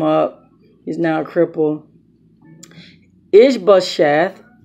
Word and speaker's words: Ishbosheth: Ishbosheth, I said it wrong all day. I said it incorrectly all day, incorrectly yesterday.